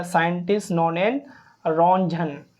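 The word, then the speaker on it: Röntgen: a scientist known N Ranjan T silent है यहां पर रंजन साइंटिस्ट ने एक्सरे को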